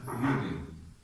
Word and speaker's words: Jürgen: It's Jürgen. U with two dots. Jürgen. Yeah, Jürgen. Oh, Jürgen. Like what? Like Spain. You know, Spain. When you put J, that means you have to pronounce H. Like Jose.